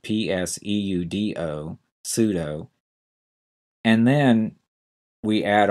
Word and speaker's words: pseudo: reasons first of all pseudo is a tricky word to spell that p is silent PS e u d o pseudo and then we